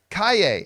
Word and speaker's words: Calle: Kaye. Okay, yeah. I've been corrected on her last name pronunciation several times.